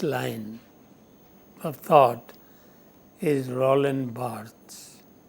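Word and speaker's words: Barthes: of thought is Roland Barts b a r t h e s but in French the last syllable remains silent so we pronounce it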